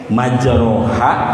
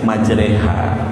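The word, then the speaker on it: مَجْرٖىهَا: Jadi ayat-ayat goribah, ayat-ayat yang asing, salah satunya imalah, majroha, tapi dibacanya majreha ya. Harusnya biasanya umumnya ro, ini jadi re.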